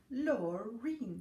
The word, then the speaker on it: Lorene: L, like lovely, A-U-R-E-E-N. Lorene. Just like Maureen, but with an L in the front.